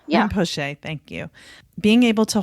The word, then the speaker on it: Rinpoche: No, yeah, Rinpoche. Yeah. Rinpoche, thank you.